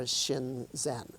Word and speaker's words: Shinzen: The Sino-Japanese readings are Shinzen, but in standard Mandarin Chinese, the characters are pronounced Zhen Shan. In Sino-Korean, it would be Chin Sun, and in Sino-Vietnamese, it would be Zhen Tien.